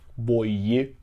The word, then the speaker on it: Boyue: Tem uma discussão na internet sobre a pronúncia do nome, uma chinesa ajuda os nossos reviewers a perceber. Boye.